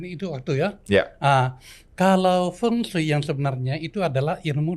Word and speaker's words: Feng Shui: Feng Shui. Oh, bacanya itu salah. Oke. Ya kalau orang Indonesia bilang Betul. feng gitu loh. Saya Indonesia banget. Feng Berarti Shui, Feng Shui. Feng Shui.